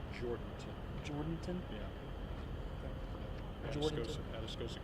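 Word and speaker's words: Jourdanton: I'm not even going to try to pronounce it. It's Jordanton.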